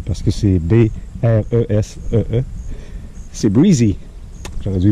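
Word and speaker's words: Bresee: Et petite rectification, j'ai dit hier, je ne savais pas comment prononcer. C'était-tu Breezeux, parce que c'est B-R-E-S-E-E. C'est Breezy.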